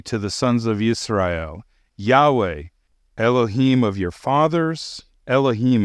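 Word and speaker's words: יהוה: So, in my opinion, the pronunciation of the name Yod-Heh-Vav-Heh is Yahweh.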